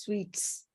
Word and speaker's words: suites: And the pronunciation is sweets.